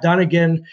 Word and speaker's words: Dunnigan: And Matt Dunnigan did say that.